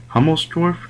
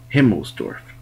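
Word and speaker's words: Himmelsdorf: guys that right now excuse my pronounciation it was himl dorf yeah that's right himl dorf it's a it's pretty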